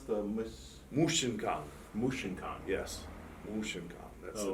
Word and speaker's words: Mushinkan: How do you pronounce the Mushinkan? Mushinkan? Yes, Mushinkan.